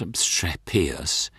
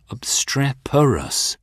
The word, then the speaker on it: obstreperous: you call it obrus no it's not obrus it's obstreperous obstreperous yes oh sorry abstra